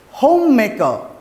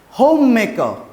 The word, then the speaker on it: homemaker: me educational background next is profession profession next homemaker again the our sound will be invisible homemaker next extra qualification extra qualification okay now again